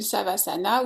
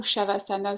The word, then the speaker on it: Savasana: Donc c'est une position de yoga qu'on appelle le Savasana ou Shavasana selon les prononciations.